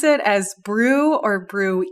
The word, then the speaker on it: BRUE: but i think the the main reason why the committee decided with brew rather than brewing is we already brewing is a term and we didn't want